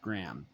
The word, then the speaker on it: Graeme: Now I realize it's pronounced Graham.